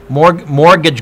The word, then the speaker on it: mortgage: more good to judge sorry the t is silent you're right thank you you guys are English 12.